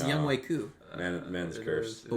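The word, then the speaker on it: Younghoe Koo: Yeah, it's Oh, pronounced no. Young Wei Koo. Man's It cursed. is. But we all say Young Ho because Sorry, Degenerate.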